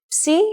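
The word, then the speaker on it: ψ: If you ever forget how to pronounce this letter, just remember, psi is for Poseidon and his trident.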